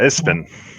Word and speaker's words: ESPN: Yeah, Ispin. Ispin. Is that how they pronounce it? Yeah, you didn't know that? I did not. You've been pronouncing that wrong your whole life? I guess I'm Jesus. just. That's embarrassing, dude. I like to pronounce things phonetically, so I just said all the acronym. That's how acronyms work, right? You say all the letters of them.